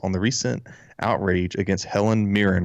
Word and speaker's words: Helen Mirren: journalist's first thoughts on the recent outrage against helen mirren right that's how you say her name yes